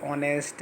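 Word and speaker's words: honest: ऑनेस्ट, अब कुछ word silent होते हैं जैसे आवर, ऑनेस्ट, है ना, तो इसमें हमारा एच साइलेंट है तो फर्स्ट वर्ड ओ माना जाएगा, इसलिए आर्टिकल एन का यूज हो रहा है।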